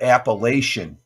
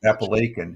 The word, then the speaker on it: Appalachian: it they called it appellation it's actually Apple Lake in New York yeah Appalachian it's not appellation but you can you look at it that's that's how they pronounce it but it's Appalachian uh the school bus